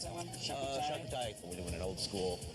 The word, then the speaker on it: charcuterie: How do you pronounce that one? Charcuterie.